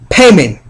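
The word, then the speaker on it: Paymon: Payment. Payment, this is a very serious demon. I encourage you to bind up this demon everywhere you go. Payment is spelled P-A-Y-M-A-N, is a king of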